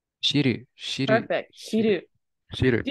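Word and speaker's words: 知る: How is it pronounced? Shiru.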